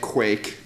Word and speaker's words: Quaich: So the reason that I called it a Quake, and it is pronounced like Quake, is that we were inspired by something that Amazon released recently called Chalice.